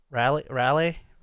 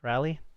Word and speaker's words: Raleigh: Raleigh. How do you pronounce that? Raleigh? Yeah, I don't know. Raleigh.